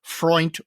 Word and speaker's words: Freund: Ken Freund, who I would not have known how to pronounce his last name other than he said Freund rhymes with joint.